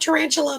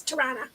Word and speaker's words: Toronto: It's not tarantula, but it's Toronto.